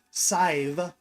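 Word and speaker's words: Sadhbh: who is Irish, and his wife, Sive. Think of the word save, but with a long I, Sive, even though it's pronounced or spelled S-A-D-B. Yeah.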